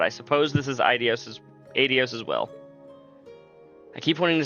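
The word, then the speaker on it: Aidios: I would have liked to see you before I left, but I suppose this is Idios Addios's will. I keep wanting to say Idios. That's how I always pronounced it before I heard it here.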